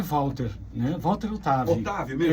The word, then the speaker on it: Walter: tá tudo certinho aí primeiro meu nome é Walter né Walter Otávio Otávio é lá no Brasil